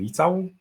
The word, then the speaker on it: Licau: not usual so yeah to pronounce it correctly i'm litau i know who she